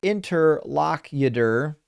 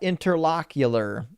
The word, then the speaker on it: interlocutor: something which is fine interlocutor is pronounced interlocutor not interlocular yeah I I'm sure I pronounce that wrong every time.